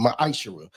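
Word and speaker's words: מעשר: verse 8 through 10, means 10th in Hebrew, and it's pronounced the Ma'ashera.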